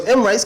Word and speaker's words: Emrice: So Emrice comes out of Maurice. Yeah, Maurice, I spell it M-A-U-R-I-C-E. You can say Maurice. So I do Emrice, which is E-M, then the rice.